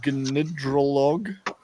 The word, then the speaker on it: Gnidrolog: Now you're going to have to pronounce the band's name for me. Gnidrolog.